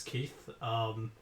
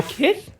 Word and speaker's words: Kith: Hi, my name is Keith. Or Kyeth, I think. Is that how you pronounce it?